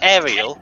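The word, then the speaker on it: Auril: gonna say Ariel yeah Ariel as in The Little Mermaid uh uh very specific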